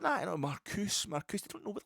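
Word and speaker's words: Marcuse: It's Marcus.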